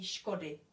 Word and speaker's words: škody: So here, D plus Y doesn't mean anything, doesn't change anything. So this would be škody. And the Y is pronounced the same as I, and it's I.